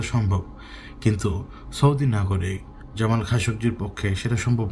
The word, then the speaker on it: Khashoggi: আসলে দানব না মানুষ জামাল খাসকজি তার নামের উচ্চারণ এটাই অনেকে হয়তো খাসকই বলে কারণ উচ্চারণ করতে পারে না জামাল খাসকজি সেইদিন সৌদি